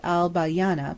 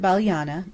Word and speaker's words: Al-Balyana: We ought to have called it Al-Balyana, but we didn't. We called it Baliana, and we pronounced Abydos according to our education.